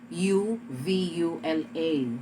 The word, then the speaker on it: uvula: third you have your ovula sometimes it is spelled u v u l a so when it is l spelled u v u l a then you have to call it uvula the last one is